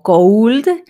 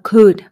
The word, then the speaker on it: could: es Cut y también no lo pronunciamos como could sino cool básicamente podríamos decir que la o desaparece y bueno el significado